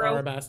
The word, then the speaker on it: Arabasta: okay I see so it's either alab or arabasta I've heard both I like Alaba better okay I do